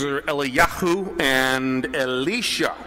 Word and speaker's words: Eliyahu: Their names are Eliyahu and Elisha. That's how they're pronounced in Hebrew, or Elijah and Elisha, as we many times say today.